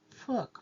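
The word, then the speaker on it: 福: and the word is fuk which means good fortune in Chinese and in Mandarin it is pronounced Fu the blessing on the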